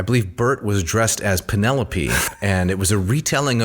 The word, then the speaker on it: Penelope: everyday speech sure so I thought that the individual's name was penelopee I didn't know that she was called Penelope uh similar to when I